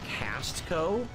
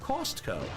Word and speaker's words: Costco: I notice people in the chat joke about how you pronounce Costco as Castco. I say Costco. Always cost.